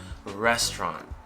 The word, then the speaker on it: restaurant: essentially our goal here let's start with uh rest rest restaurant okay so the tea